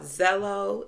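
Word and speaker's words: Xello: Um we use a program called Zello. It's called uh it's spelled X E L L O.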